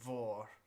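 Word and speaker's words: mhòr: This word here would be vor Yeah. because mh is just pronounced v.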